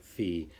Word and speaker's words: phi: it seems like uh more often in science and math uh people pronounce it fee but uh in uh